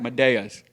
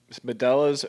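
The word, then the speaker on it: Medalla: were right they're called medas medas something like that yeah melas or medas because cuz I don't know so two L's makes like a y sound but I just don't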